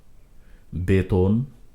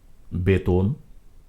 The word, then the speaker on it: বেতন: দাগর সাগর নাগর আদর বেতন এখানে রয়েছে একার মাঝখানে ত অন্তর্ভুক্ত অ এর আগে বয় একার রয়েছে সেজন্য মাঝখানে ত টি ও বা ওকার মত হয়েছে বেতন চেতন কেশর শোধন ধ